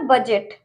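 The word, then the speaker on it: budget: ठीक है, नेक्स्ट है हमारा बजट। बजट में भी डी के बाद जी है तो हम डी को साइलेंट रखेंगे।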